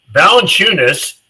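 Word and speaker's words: Valančiūnas: I very little presume very little is Valenunis, that's how you pronounce his name.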